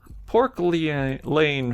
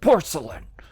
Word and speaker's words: porcelain: normal room stuff look pork pork lee lane figurines aren't they pretty huge stupid child it's pronounced porcelain who left them here